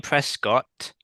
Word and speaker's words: Prescott: The vegan Prescott. Right. That's how you pronounce his name. And yeah, What? he's a vegan. Sorry. He's a Do that again. What? Prescott Yeah. Why do you have to do extra t's? because that's how you pronounce his name, Dave.